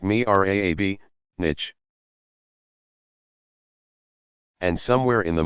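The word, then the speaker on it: mihrab: designs like that of the mirabe pronounced me rab nich and somewhere in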